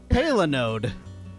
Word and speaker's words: palinode: Today's word is Palinode.